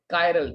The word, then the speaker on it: chiral: क्या नाम देते हैं, कायरल। कई लोग उसे चिराल बोलते हैं, प्रोनाउंस कैसे मर्जी करो, कंसेप्ट समझ आना चाहिए।